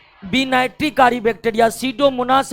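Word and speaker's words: Pseudomonas: रखना पड़ेगा एक है सीडो मनास सीडो मनास सीडो मनास का पी साइलेंट रहता है दूसरा है थायो बेसिलस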